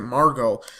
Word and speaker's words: Margot: I think it's Margot. But in the name, there's a T at the end, but I'm pretty sure it's silent because in the show, they pronounced it Margot.